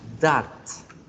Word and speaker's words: dot: El punto se escribe dot, pero se pronuncia dat. Con A. Dat.